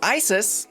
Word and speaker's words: Icesis: Next up, Icesis, spelled like ice, and then sis.